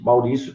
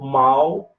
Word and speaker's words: Maurício: Maurício também. Você pode dividir Maurício ou Mauricio.